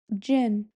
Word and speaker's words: jinn: This one I know how to pronounce it now. It's jin.